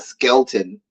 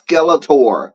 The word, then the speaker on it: Skeletor: say we know about Skeletor and mispronounce his name not Skelton it's Skeletor not skeleton Dear God anyway Tracy